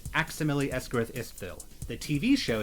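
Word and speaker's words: Aximili-Esgarrouth-Isthill: So I pronounce it Aximili Esgarith Istville.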